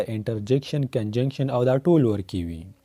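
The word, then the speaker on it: conjunction: ما اوریدلی څه کسان کنجنکشن ته کنجکشن وي او انټرجیکشن ته انټرجنکشن وي. غلطي وي الټی وي. دا به وایي کنجنکشن او دا بل به وایي انټرجیکشن.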